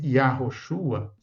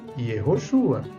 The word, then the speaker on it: Yehoshua: Olha só, a gente não encontra essas pronúncias. Não encontra Yahoshua, não encontra Yahohanan. Nós encontramos no texto hebraico Yehoshua, também Yehohanan. Nós encontramos Yehoiakim, Yehonatan, Yehoacaz, Yehoash, Yeho. É a forma como esses nomes perduraram entre os israelitas até hoje.